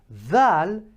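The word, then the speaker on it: ذال: Thal is the exact way as we say the ball, this pen, this letter, the, right?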